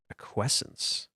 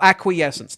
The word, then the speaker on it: acquiescence: I've never acquins. I've never heard this word. Search Google for aquessence. How do you How do you say it? I I have never heard this word. Oh, acquiescence.